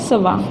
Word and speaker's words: schwa: इसको हम क्या प्रोनाउंस करते हैं, सवा। इसको हम सवा बोलते हैं।